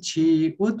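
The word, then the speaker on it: 치읓: अब त्यस्तै एक्जामपल मात्रै यसलाई चाहिँ छिउत भनिन्छ हामीले चाहिँ छिउत भनेर पढिन्छ छिउत छि उ अनि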